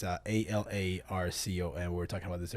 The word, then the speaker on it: Alarcon: It's Alarcon. We were talking about this earlier. Yeah. Alarcon. It's a little funky. Say it how it's supposed to be pronounced, though. Alarcon.